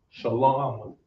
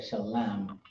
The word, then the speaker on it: Shalom: in ancient Hebrew, but essentially that's how you pronounce it. That is how you can, that's how to explain it the best way. Shalom. Shalom. Instead of shalam.